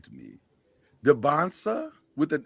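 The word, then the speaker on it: Dybantsa: I know you and Charlie are big DeBonsta guys.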